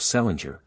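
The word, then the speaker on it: St Leger: of the name of Selinger which was the usual way of pronouncing the name of St Ledger or as they spelled it St Ledger restored by later generations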